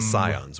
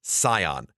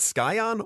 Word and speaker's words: Scion: and it is pronounced Scion not skion or Pyon as I heard one kid say but Scion like the car okay so you know